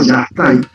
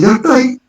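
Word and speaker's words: Yastay: Lo que sí tenían como entidad mágica espiritual era un ser que se llamaba Yastai. Yastai. Lo he escuchado. El Yastai. Sí, el Yastai, que se escribe Y-A-S-T-A-Y, sí.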